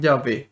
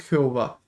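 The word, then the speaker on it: Yahvé: la agregarle las vocales quedó en en llave y así se pronuncia su nombre no es jehová jehová es una traducción errónea que se realizó a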